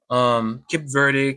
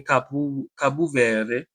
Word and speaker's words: Cape Verde: Cape Verde, Cabo Verde. Depending how you want to pronounce it.